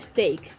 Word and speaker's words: steak: longest time a steak the word steak i had no clue that you had to pronounce it at stake and my sister didn't